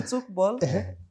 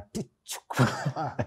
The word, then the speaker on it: Tchoukball: Maana yake mimi nilikuwa nasema TCHOUKBALL. No, the T is silent. The T is TCHOUKBALL. The T is silent. TCHOUKBALL.